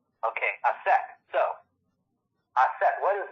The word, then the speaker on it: Aset: Isis is the Greek pronunciation. So Isis is actually take off the S at the end. So you have Isa. And then you look at the Egyptologists. They say Aset.